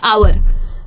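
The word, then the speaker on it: hour: अगर आप ये समझ गए कि कौन से वाले में साइलेंट है, जैसे कि बहुत कॉमन वर्ड्स होते हैं आवर, ठीक है, या ऑनेस्ट, ये बहुत कॉमन वर्ड्स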